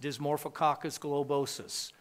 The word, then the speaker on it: Dysmorphococcus globosus: It's pronounced Dysmorphococcus globosus.